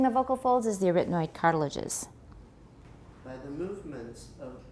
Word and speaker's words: arytenoid: Their position can be adjusted by the movements of the arytenoid. You're doing fine. Arytenoid. Stress is on the second syllable.